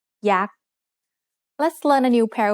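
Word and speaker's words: ยักษ์: Maybe you've seen statues of yak at a Thai temple. Yak is high tone because it has a low-class consonant and a dead syllable with a short vowel.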